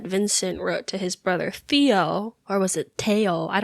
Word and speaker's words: Theo: Oh well, I'm gonna say Theo because this is America. We pronounce the H. We pronounce the H, and we don't pronounce the PH.